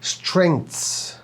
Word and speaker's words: strengths: اكلمك اكت عن نطقها فالنطق صحيح للكلمه اللي قدامك على الشاشه سترينتس سترينتس الجي بننطقها والتي اتش بننطقها والاس بننطقها اه فانت هنا عندك ثلاث